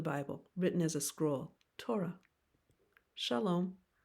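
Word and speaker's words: תורה: referring to yourself Ani first syllable toe repeat toe second syllable repeat ra complete word together Torah Torah Torah the first five books of the Bible written as a scroll Torah shalom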